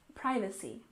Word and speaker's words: privacy: we stress the first syllable in privacy privacy and concerns we stress